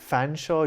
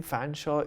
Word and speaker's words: Fanshawe: Fanshawe, his middle name Fanshawe, is spelt in such a way that you would imagine it's pronounced Featherstone Hall.